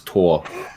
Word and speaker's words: Thor: say that that uh in german you you pronounce it as tor i tore i thought